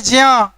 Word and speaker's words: ज्ञ: इसका सही उच्चारण है ज्या, क्योंकि इसका निर्माण ही हुआ है ज जोड़िया से, तो ज जोड़िया ज्या होगा क्या ज्ञा होगा, है ना, ज्या होना चाहिए।